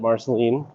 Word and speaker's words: Marceline: and uh visit if you do come visit Marceline which by the way is the proper pronunciation from a local barceline so here's our